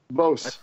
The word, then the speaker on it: Beauce: I can't even pronounce it. It's some wonderful sounding French town. I can't say it. Beauce.